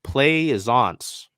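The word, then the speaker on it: Plaisance: so I mean maybe pleisens oh wait yeah hold on the pronunciation Glide is play is once my apologies I believe she's from yeah yeah she went to LSU there you go um playsons little French I'm not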